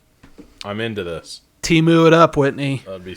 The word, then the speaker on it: Temu: be like, hey, does Temu have this? And she'll be like, yeah, dude. Although, at the Super Bowl, we learned it's supposed to be Temu, apparently.